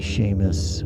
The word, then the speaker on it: Seamus: whatever the case in the Gaelic language s e and Si are pronounced the same as an uh an American English sh so you'll typically see Sheamus or the name Shawn